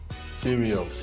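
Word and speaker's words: Sirius: so that's why I so how do you spell that s i r i u s serious yes s i I thought it was like serious okay like some serious no no no no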